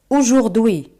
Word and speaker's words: aujourd'hui: La palabra en française est aujourd'hui. Aujourd'hui a se prononce comment au jour un jour un jour un jour.